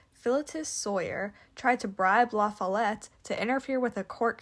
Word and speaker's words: La Follette: La Fayette this Lafayette whose name is actually pronounced lafalette despite what it looks like and what we